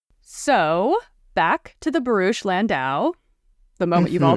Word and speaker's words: barouche: and description of a barouch. Yes. And when you say when you say bar you have to say it like that. Barouch. Barouch. Give it give it the gravitas it deserves please.